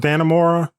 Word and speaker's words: Dannemora: I think it's pronounced Dannemora, New York, because it's right on.